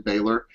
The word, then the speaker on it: Balor: They just wanted to introduce, how did they pronounce it on TV? Balor? Yeah, Balor. I'm just going to say Balor. I just think that sounds cooler than Baylor.